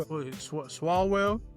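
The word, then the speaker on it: Swalwell: Swallwell, that's how you pronounce his name.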